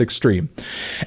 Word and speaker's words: X22RME: It's X22RME, but I think it's pronounced Extreme.